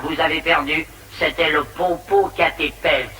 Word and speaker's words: Popocatépetl: C'était le Popocatépetl. Ça s'écrit comme ça se prononce.